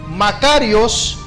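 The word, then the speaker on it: μακάριος: Él contestó, "Dichosos o en griego macarios, más bien quienes escuchan lo que Dios dice y lo obedece. Palabra de Dios." Amén. La palabra dichoso o bienaventuranza, bienaventurado proviene de una palabra que se pronuncia Macarios.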